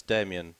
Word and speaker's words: Damian: yes you may what what does Damian rhyme with goodness me Damian rhymes with what Bahamian wow give me one